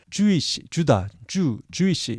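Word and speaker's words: Jewish: 참고로 유태인을 주이시 이렇게 발음하죠.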